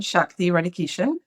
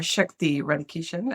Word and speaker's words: Shakti Radhakishun: I am Shakti Radhakishun. Or Shakti Radhakishun, as some people pronounce it, which is how it's usually pronounced.